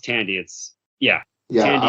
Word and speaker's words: Thandie: I love do you say, is it Thandie or Tandy Newton? I believe it's pronounced Tandy.